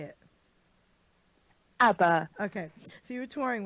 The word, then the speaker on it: ABBA: ABBA.